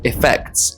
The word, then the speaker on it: effects: Effects with an I sound is a noun.